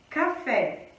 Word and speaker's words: café: é uma oxítona vó as oxítonas são palavras que possuem a última sílaba forte então olha só café né café então a sílaba tônica de café esse é o pé tá então já que é a última sílaba católica a gente fala que a palavra café é uma oxítona coloca nacional né nacional